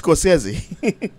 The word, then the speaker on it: Scorsese: And the right, ironic thing is, it really is pronounced Scorsese.